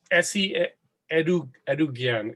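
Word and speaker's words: Esi Edugyan: Well, yeah, it's by Essie Edugyan.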